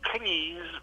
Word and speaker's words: Cleese: Cleese, bit to rhyme with cheese, but otherwise it was pretty close.